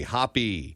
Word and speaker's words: Hoppe: that's incorrect right it's it's pronounced as if you saw the word spelled that way but it's with an E hoppy yes and the hoppy